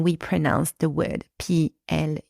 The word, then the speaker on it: plus: context of the sentence and the S is always silent in negative sentences basically always pronounce the word p l u s some examples